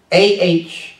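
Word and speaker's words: אח: Hebrew word for brethren is ouch ouch is pronounced aah see it ouch in the Strong's Concordance if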